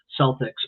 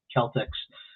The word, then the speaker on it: Celtics: They call their basketball team the Boston Celtics, but it actually should be Celtics. So a lot of people aren't familiar with the hard C there, but I appreciate